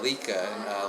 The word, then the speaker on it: Leká: brand like okay you can you pronounce the name for the people Lika Lika means play and Swedish and because our fans